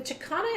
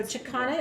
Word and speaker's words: Chakana: So Chicana is spelled Chakana, Chakana, and Chicana represents, like I said, it is a wheel, but it's also a portal.